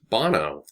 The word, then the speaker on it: Bono: Shir is also there is it boner or Bono Bono okay so I was saying it right this what's his real